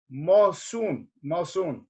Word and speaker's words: Mosun: Now, Mosun, am I saying it right?